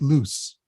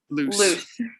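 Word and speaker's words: Luce: cortizone and lucy okay actually i think it's pronounced loose loose um and uh uh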